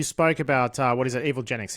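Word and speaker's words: Evilginx: Evil Genics. Is that how how you actually pronounce it? Evil Jinx. Yeah. Evil Jinx.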